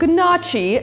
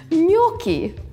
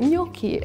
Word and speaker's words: gnocchi: They're spelled gnocchi, and I always thought that's how you pronounce it, but then I learned it's gnocchi. Just has this ring to it, gnocchi.